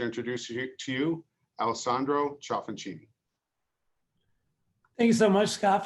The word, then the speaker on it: Ciaffoncini: he did it perfectly i can tell he has some good italian friends that uh knows that ci is that chess sound but anyway thank you